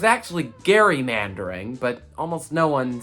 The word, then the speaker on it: gerrymandering: the redistricting process is a phenomenon known as gerrymandering and if you've heard that term before and heard it pronounced the way that i just said it